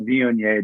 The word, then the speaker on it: Viognier: World Marcelin Day, April 27th, and International Viognier Day.